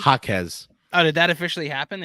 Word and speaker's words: Jaquez: Did I pronounce that correctly? Jaquez.